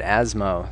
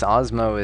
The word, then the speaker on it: Asmo: know for some reason I've always wanted to pronounce that asmo so I guess osmo is is how it's pronounced uh yeah so